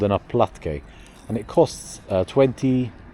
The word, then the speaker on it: oplatky: city, eating a little oplatky. Did I say it right? Oplatky. Oplatky, sorry.